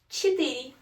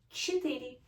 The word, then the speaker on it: четыре: Четыре. Yeah. Don't be scared. Ch. Sounds different for you guys maybe, but it's not too difficult to pronounce. Ch. Четыре.